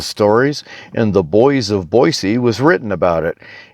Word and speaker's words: Boise: 1955 currently those who grew up hereabouts generally prefer Boise outsiders often say Boise sometimes natives gets hostile if they think it's being mispronounced older folks here remember why and to them Boise sounds like a slur younger people don't always